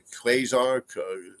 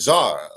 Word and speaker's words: QZAR: The Quasar. I thought it said Czar, like a czar.